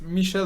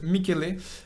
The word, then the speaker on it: Michele: We'll say it's not Michel but Michele.